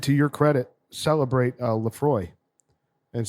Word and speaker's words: Laphroaig: tasting today regular plus why are you not pronouncing the g at the end of it yeah is it laphroaig yeah there's a [